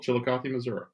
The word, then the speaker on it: Chillicothe: I'm getting that right chili coffee Chillicothe Missouri yeah there's no I am on the end of Missouri um so with that